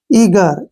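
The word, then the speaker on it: eager: यहां ध्यान से देखिए जब कभी भी जी से पहले वावल हो और जी के बाद में भी वावल हो तो तो जी का उच्चारण ग होता है ई ए का उच्चारण हो गया ई और जी का उच्चारण हो गया ग और आर का उच्चारण र ईगर क्या पढ़ेंगे इसको ईगर ईगर होता है उत्सुक किसी भी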